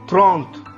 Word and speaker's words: trente: 30 को हम फ्रेंच भाषा में बोलते हैं त्रोंत या थ्रोंत, त्रोंत, त्रोंत। Sometime we also call थ्रोंत, थ्रोंत।